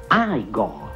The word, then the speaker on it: Igor: No, si pronuncia Igor.